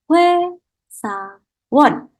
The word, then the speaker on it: 회사원: Jadi kita bacanya adalah 회사원. Jadi kalau huruf O, vokal O ketemu vokal I, maka kita bacanya menjadi W.